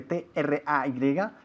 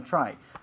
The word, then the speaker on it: tray: Si lleva en la mano una bandeja, a tray, que se escribe T-R-A-Y, tray, se pronuncia tray y no try.